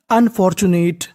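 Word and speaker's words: unfortunate: तो, मीनिंग बन गई, अनफॉर्चूनेट, अनफॉर्चूनेट।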